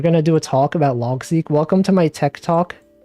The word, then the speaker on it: Logseq: Logseq. I think it's pronounced Logseq. Seek as in like sequence.